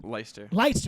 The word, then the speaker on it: Leister: like Le eer well if you take the L out of the front of it and put an m in the front of it what would you say